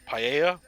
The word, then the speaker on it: paella: I've also been corrected that it's apparently uh paella Spanish dish my apologies for the name saying